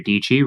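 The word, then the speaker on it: Dietschy: branding perspective but Sarah dii rhymes with pichy she does an excellent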